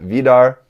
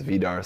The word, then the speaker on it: Vidar: Vidar, I think is the Japanese pronunciation is Vidar, so we'll just go with that.